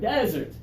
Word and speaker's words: desert: now desert desert good the stress is what matters okay the syllable stress the strong first syllable or the strong second syllable that's what's important when we talk about these two words uh what do you